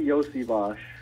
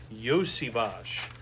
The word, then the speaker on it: Iosivas: Yes, it's Andrei Iosivas. Iosivas. Gotcha. Accent on the first syllable, Iosivas.